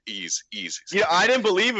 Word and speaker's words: Ys: It's just the letter Y. YS. Okay, like saying E's, and it's like, well, what is that?